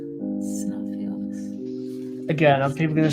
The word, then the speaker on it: Xenophilius: No, we could get the minifigure of Xenophilius, but like Xenophilus. Okay, I wanted to make sure I said it right. yeah, like Xenophilus.